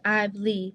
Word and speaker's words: Ivlie: It's Ivlie. People be saying it wrong.